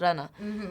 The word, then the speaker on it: Rana: you know my name I say my name is Rana but it's pronounced Rana so how is your